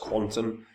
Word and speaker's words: Qtum: chart looks miserable now is meant to be pronounced Quantum um and it's a